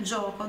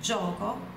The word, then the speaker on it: gioco: Então, l'obiettivo del gioco, o objetivo do jogo, olha a pronúncia do GI, gio, do GIO, né? Gioco, gio. Explosiva a pronúncia do G, não é gioco, é gioco, gioco.